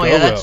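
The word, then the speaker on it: Gowrow: The Galrow, is that how you pronounce that, out of Arkansas? Oh, the Goro? Oh, Goro.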